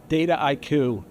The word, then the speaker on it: Dataiku: He works for a company called, uh, Data IQ.